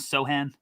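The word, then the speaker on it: Sochan: pivot here by saying that the pronunciation is sohan so yes thank you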